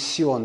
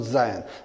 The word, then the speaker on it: Sion: I purposely removed Z and put S because the correct pronunciation is Sion, not Zion.